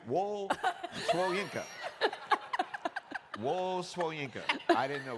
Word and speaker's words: Wole Soyinka: It's Wole Soyinka, by the way.